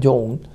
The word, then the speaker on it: Joan: se llamaba John andrews no Joan se escribe se pronuncia John y John andreus yo